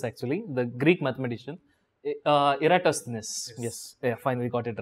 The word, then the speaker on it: Eratosthenes: a mouthful i do not know how to pronounce this actually the greek mathematician uh eratosthenes yes i finally got it right this this